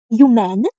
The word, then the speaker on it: humaines: Les lettres et les sciences humaines, the H is avoided, ne m'intéressent pas.